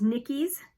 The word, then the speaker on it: Nikyys: It's Nikki's, and it's spelled Nikyys.